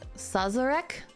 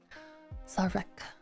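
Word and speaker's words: Szarekh: Sazarek? The Silent King announced that it had been sealed. So Ozkan is really smart. He's a big brain. Zarek? Oh, it's just Zarek? Okay. Zarek.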